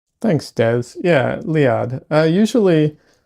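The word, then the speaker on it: Liad: Oh, it's uh Lead Thanks, Dez. Yeah, Lead. Uh, usually usually it's spelled L I A D, which is closer to how it's pronounced, I guess, depending on how you want to emphasize things.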